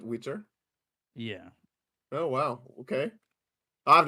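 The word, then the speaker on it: Witr: w i t r so like like like skitter but Witter yeah oh wow okay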